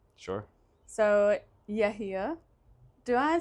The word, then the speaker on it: Yehia: It's Yehia, and the H isn't really a H. There's a letter in Arabic that's not in English. What am I saying? You're saying Yehia.